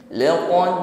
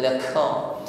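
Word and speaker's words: لَقَدْ: Laqad ra'a min ayati rabbihil kubra. Qafnya kuatkan tekanannya, sifatnya syiddah li quwwatil i'timadi 'ala al-makhraj, kuatkan tekanan hurufnya. Jangan disertai dengan nafas yang berhembus, bukan laka.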